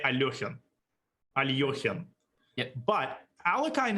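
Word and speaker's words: Alekhine: I love him but alakai himself apparently pronounced his name not oh not a y o but an e sound so most Russians will say but apparently he himself pronounced it differently so maybe during the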